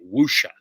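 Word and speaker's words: wuxia: ever heard of the chinese film genre wusha it's spelled wxia wusha that's how it's pronounced yeah yeah this is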